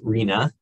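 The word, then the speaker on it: RHNA: housing needs allocation um it's our hna and is pronounced rina um in lingo so when people talk about rena that's what they're talking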